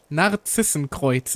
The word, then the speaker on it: Narzissenkreuz: Finally, I can flex the fact that I'm actually German and can pronounce the stuff correctly. I swear to God, hearing people call it like, no, this isn't great, drives me crazy. Narzissenkreuz. It's not that difficult.